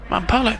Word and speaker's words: Mampolo: Mampolo, that's how you say it.